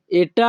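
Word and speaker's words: è: আমাদের পরবর্তী বাক্যটি আছে এটা আমার আদেশ। এটা আমার আদেশ এই বাক্যের ইতালিয়ান ভাষা হবে কুয়েস্তো এ ইল মিও অর্দিনে। কুয়েস্তো এ, এখানে ই এর উচ্চারণ হবে এ।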